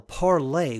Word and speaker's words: Parler: as I can tell parlay was the intended pronunciation but considering the politically incorrect leanings of the site's users I'm more inclined to say the word with the hard are so it's parlor Twitter's blatant censorship has